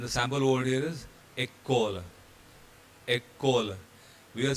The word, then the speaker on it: école: The accent aigu, E, the E with accent going forward is pronounced as A. And the sample word here is école.